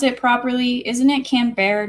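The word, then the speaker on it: Canberra: that all right cool let's see did I pronounce it properly isn't it can bear not CA M crab is a manufactured City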